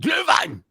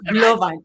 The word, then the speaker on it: Glühwein: No, what you have to do, Deb, is when you're speaking in German, you have to act like you're mad. Glühwein! And then Glühwein. Yes, Glühwein.